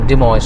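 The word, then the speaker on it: Des Moines: ডেসময় হবে not sure but এটা মনে হয় ডিমেজ হবে এনিওয়ে সেটা পার হয়ে আসলাম আর এখন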